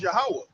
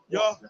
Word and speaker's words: Yahweh: now, when you said it in the Paleo Hebrew, like how is it supposed to be pronunciated? It's Yahweh. Yahweh.